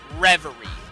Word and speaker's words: Reverie: also want to do egg reverie I think that's how it's pronounced reverie re BER ie I'm